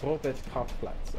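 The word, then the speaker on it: Robert-Koch-Platz: Robert Kochplatz, oh, that's how you say it.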